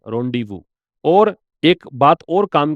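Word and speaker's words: rendezvous: इसको बोलते हैं रोंडीवू। रेंडेज नहीं है रोंडीवू और एक बात और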